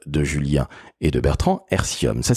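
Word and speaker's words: Airthium: Julien et de Bertrand hercium ça s'écrit a i r T H i u m et vousz all me dire que c'est un petit peu comme l'air et le lithium formidable je retiens que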